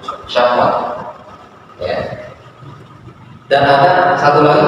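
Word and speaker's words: شهوة: Ha wau ta marbut itu tulisannya syin Ha wau tak marbutah bacanya syahwat syahwat ya dan ada satu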